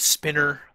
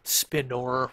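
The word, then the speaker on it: spinor: heard people pronounce it spinner like just you know how you think spinner i've heard it spin or where you kind of uh you kind of emphasize that there's an o in there but so i kind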